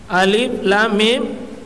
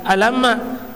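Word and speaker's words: الم: Alif, Lam, Mim. Artinya apa? Huruf-huruf maktua, terpotong-potong. Karena tidak boleh dibaca alamma, tapi alif, lam, mim. Terpotong-potong cara membacanya.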